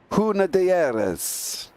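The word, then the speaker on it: Hunaudières: KFC Le Mans Huna Dieres. Yeah, Huna Diaz. I think that's the one. I couldn't pronounce that one. You got it right. Huna Dieres.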